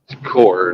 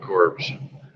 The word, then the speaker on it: Corps: everybody I knew in the Marine Corps yes core not corpse but yeah it's one of those things is spelled exactly the same as Corpse but it's